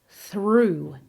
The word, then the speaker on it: through: And through. This has a long oo vowel, just like in the word shoe.